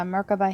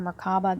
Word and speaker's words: Merkaba: I have a beautiful amethyst handstone, and I have a Merkaba here, or Merkaba. It's pronounced both ways, as far as I know.